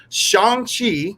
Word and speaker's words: Shang-Chi: So this is the A team to talk about Shang-Chi.